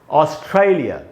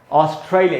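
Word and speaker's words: Australia: इसको दोस्तों हम ऐसे पढ़ेंगे ऑस्ट्रेलिया। ऑस्ट्रेलिया, ये जो ट्राई में जो ए है वहाँ पर स्ट्रेस है, उधर ही ज़्यादा देर तक रुकना है, इसको हम पढ़ेंगे ऑस्ट्रेलिया।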